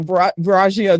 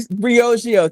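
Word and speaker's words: Briogeo: So, Steve Stout, uh, Nancy Twine, who has a phenomenal beauty company, uh, Baragio, that she recently, Brioio, thank you. I knew I was saying it wrong.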